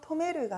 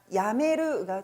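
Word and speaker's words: やめる: 단 발음이 바뀌어서 토메르가 아니라 야메르가 되었네요.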